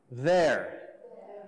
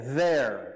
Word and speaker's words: there: So, se lembra, TH, nós temos dois jeitos de TH. Tem think, de só soprar, e de abelha. Esse é de abelha. There. Everybody, there. There. Aí vai ter que colocar a língua para fora.